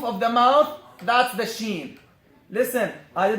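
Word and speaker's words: ش: So the sheen is pronounced like this. Listen. Ash. Am I touching the roof of the mouth with the middle part of the tongue? Is it touching? Ash. Is it touching? No. This is why I don't say I touch, because this letter is not pronounced by touching in the first place.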